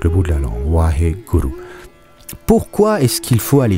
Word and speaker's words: Waheguru: presque inaudible, hein, donc il faut bien rouler le R. Waheguru. Waheguru. En fait, guru, ça se prononce gru. Waheguru. Waheguru. Hein, c'est pas Waheguru, Waheguru, hein, c'est Waheguru.